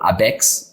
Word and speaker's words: ABECS: a go it's it's called it is uh abex right abcs oh abex as we say in brazil it's a brazilian